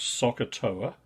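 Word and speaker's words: SOHCAHTOA: there's a useful um set of letters pronounced soccer TOA which give you the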